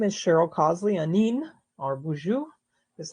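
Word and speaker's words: Boozhoo: Nin or Buju is how you say hello in my language.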